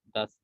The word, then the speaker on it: dass: Ya, jadi kalau dia konsonannya double berarti bacanya tidak usah panjang a-nya, das gitu aja. Das.